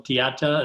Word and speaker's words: dieta: Could you tell us how to spell dieta? Is that how you pronounce that?